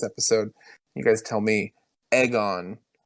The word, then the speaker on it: Aegon: yeah but I mean it's egg on in the same way that like Emma is Emma not Emma like you know it it even though we might pronounce it in our head differently it does have some lyrical sense they said aegon the